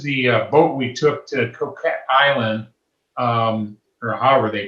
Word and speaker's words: Coquet: of the word but i read online that it's pronounced coke it i don't know i